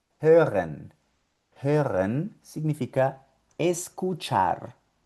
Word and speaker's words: hören: La H con la O umlaut, como en esta palabrita, hören.